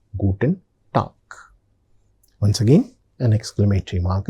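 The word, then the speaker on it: Guten Tag: So the pronunciation is gooden talk.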